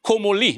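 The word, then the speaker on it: Comolli: si parla di questo Damien Comoli dobbiamo pronunciarlo alla francese presidente del Tolosa sul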